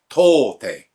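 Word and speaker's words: 唐手: So in the Chinese pronunciation, we say Tang or To. And the Japanese pronunciation is Kara.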